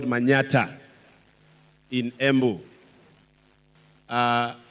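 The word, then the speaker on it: Manyatta: from a place called Manata in embu uh Manata constituency is supposed to be Manhattan but we don't pronounce man Manhattan we say Manata and I am also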